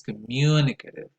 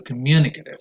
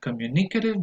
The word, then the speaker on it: communicative: The first one is communicative. Stress goes on the second syllable and not on the third syllable, like many people might say. So communicative, not communicative, but communicative.